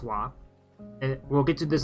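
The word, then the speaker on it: は: I know that's the ha character, but it's wa. It's pronounced wa.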